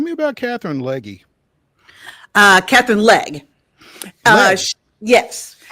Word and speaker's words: Legge: Catherine Legge. Yes. So the E is silent.